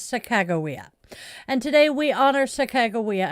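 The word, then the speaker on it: Sacagawea: Uh, I know so many people who mispronounce her name as Saka Jawia. I was corrected by one of her descendants. It is Sakagawa.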